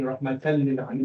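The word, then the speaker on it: رحمةً للعالمين: the assimilation رحمة للعالمين, but the tanween fath is still there. Okay, so when you pronounce it, you're still saying rahmatan lil alamin.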